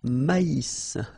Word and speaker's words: maïs: So here you get this tréma, so maïs, maïs. And then you pronounce the final S, maïs.